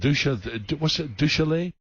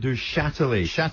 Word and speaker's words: Duchâtelet: So the owner, Mr. Roland Duchalet? Actually, Al, stay there because we think we know someone who might be able to help you with the pronunciation of that name. We're talking about the owner, Roland Duchâtelet. Duchâtelet.